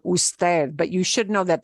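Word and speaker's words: Ud.: no Mr Smith okay UD is just a an abbreviation that is frequently used for usted but you should know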